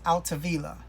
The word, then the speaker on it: Altavilla: Also to note, when I did that video, I said Danny's name wrong. I just want to apologize for that. But it's Altavilla.